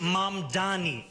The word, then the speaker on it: Mamdani: So, for all the vitrial over Manni, and yes, it is pronounced. The name is Mam Dani.